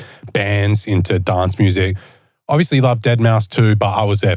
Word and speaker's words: Deadmau5: playing and I was like get out it's dead mouse she's like who cares I feel like at